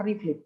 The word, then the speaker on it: RFLP: We can pronounce PCR reflip to make it easier.